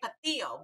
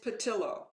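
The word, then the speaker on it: Pattillo: spanish accent sometimes so i want to say patil but i gather it's probably not pronounced that way it is patilla yeah it's how she pronounced it yes so melvin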